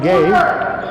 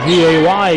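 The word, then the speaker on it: Guay: Elvis over to Gay. Gay's name is spelled the way we spell it around here, G-U-A-Y, but with Charlie Gay being a coach there at, nice shot by Griffin Obius.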